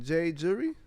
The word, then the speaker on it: J Jury: is the hardest name jury like jury duty not like jewelry but when Reasonable Doubt